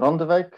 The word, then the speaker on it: Randewijk: we go yes so my name is randowek i'm from dtu and now presenting a uh